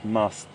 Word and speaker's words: musth: temporal gland or the musth gland. M-U-S-T-H, that's spelled, everyone. M-U-S-T-H. It's a little bit of a mouthful. Musth. So you say the M-U-S, mus, and then th at the end, musth.